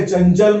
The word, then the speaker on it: चंचल: च के चंचल में च के पहले य है तो बिंदी आ जाएगी और उच्चारण य का होगा।